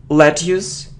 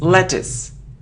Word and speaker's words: lettuce: okay next it isn't lettuce it isn't lettuce no it's lettuce lettuce so look at how we pronounce it is the sound e lettuce lettuce okay let's look at